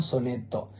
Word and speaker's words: sonetto: al soneto lo llaman sonetto. Ellos escriben tanto Scudetto como soneto con dos T's y pronuncian una T en cada sílaba.